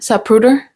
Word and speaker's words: Zapruder: Zapruder, de Zapruder.